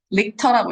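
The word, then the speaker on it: Richter: 이게 리치 아니에요? 릭터라고 읽어요.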